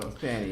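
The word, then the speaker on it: Fani: County district attorney Fannie is that how you say it fonnie or Fanny Fanny sure Fanny yeah Fanny Willis and her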